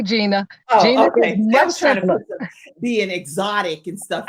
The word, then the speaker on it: Gina: it's a gina that's why i just say gina okay being exotic and stuff in there okay i think they were too i think they were too i just say gina because it's hard your mom and dad they